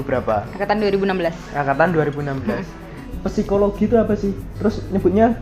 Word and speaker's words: psikologi: Jadi dari bacanya dulu ya, P-nya tuh dihilangin, Kak. P-nya dihilangin. Jadi psikologi bacanya.